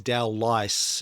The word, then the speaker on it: Dowlais: Dowlais is how it's pronounced.